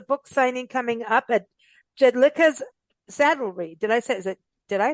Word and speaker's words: Jedlicka's: And then she also has a book signing coming up at Jedlicka's Saddlery. Did I pronounce that correctly? Yes, Jedlicka's Saddlery in Los Olivos, California, which is a little town near right next to Solvang and San Ynez.